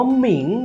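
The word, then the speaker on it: 明: แสง สว่าง นั่น เอง ทุก คน อ่าน ว่า หมิง นั่น เอง ครับ กลาย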